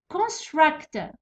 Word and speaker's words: construct: ability construct. Construct verb فيه two syllables. فيه verb فيه two syllables. ديما لي verb اللي فيهم two syllables stress يجي في المقطع الثاني ديما.